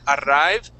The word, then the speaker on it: arrive: So we would not pronounce that arrive. Okay. That we don't have a double R pronunciation. Even if it's two R's, you could have 15 R's there, and we would still say er. Okay. So it doesn't matter how many R's are there.